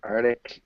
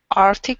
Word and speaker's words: Arctic: Radar uh and then there are two pronunciations for Artic you can say artic Arctic or you can say Arctic AR Arctic ah Arctic the Arctic Arctic yeah close work on that k sound Arc Arctic AR yeah